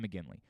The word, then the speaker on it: McGinley: break uh yes correct when i said his name wrong what the hell is that john mcginley mcgill i said mcglinchey i don't know why